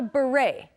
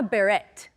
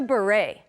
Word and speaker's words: beret: again it's called a beret be careful with the pronunciation it's not a Barrett okay it's not a bit it the T is silent it's a beret remember we have many